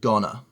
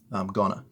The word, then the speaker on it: gonna: And we usually pronounce it gonna. That's good English. That sounds more natural. Gonna.